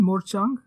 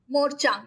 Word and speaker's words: morchang: so that was a revolution interesting how's it pronounced again morchang morchang m o r c h a n g morchang cool I'll check that out so uh